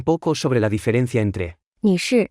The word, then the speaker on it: 女士: 女士女士是 Se pronuncia con el cuarto tono. Hablemos un poco sobre la diferencia entre 女士、 y.